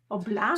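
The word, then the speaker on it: Blame!: reading uh blame blam blam so it's it's spelled blame but apparently it's pronounced blam so yeah that's so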